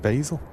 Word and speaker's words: Basel: Technically both are correct. If you're from the French-speaking side of Switzerland, it's pronounced Basel, and if you're from the German-speaking sound, it's pronounced Basel.